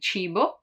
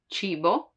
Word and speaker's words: cibo: While when there is I or I, it's a soft sound, like in cibo, cibo, food, or cena, cena, dinner.